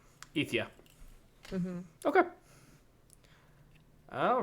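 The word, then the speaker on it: Aoife: It's pronounced Ifya, but it's spelled Aoise. So then the pronunciation would be capital E dash FYA. Ethia.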